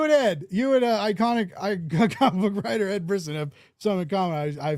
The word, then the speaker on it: Brisson: It was oh my god, what is it was Ed Brisson, and I said his name wrong, and I said I think I said Ed Bryson, and it's and even